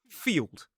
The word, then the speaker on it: field: It is field. Although I suppose there's a tricky spelling there anyway, because it looks like field. But the pronunciation of F-I-E-L-D as its own word is field, and as a suffix, it's field.